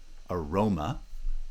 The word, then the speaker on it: aroma: are all possible so in a word like aroma aroma rho has a branching nucleus m is a light syllable roma forms a foot and there's this unstressed syllable before it aroma or vanilla in